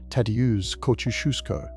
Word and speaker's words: Tadeusz Kościuszko: The man who lit the flame was Tadeusz Kościuszko, pronounced Ta, Dea, Ush, Kush, Kuf, Ku.